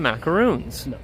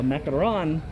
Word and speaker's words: macaron: common mistake that though i think people when they see those they pronounce them macaroons a macaron has what you're talking about